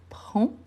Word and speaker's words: prends: Je prends. Je ne prononce pas le 2S.